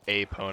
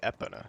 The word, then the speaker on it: Epona: No, not spelled like Apona, but like, you know how you say E in Spanish? You say A? Kind of like that. Gonna start bullying you. I don't say it like Apona, I say Epona.